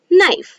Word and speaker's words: knife: the k is silent when k and n come together then k is silent so it is me one more example knife so now let us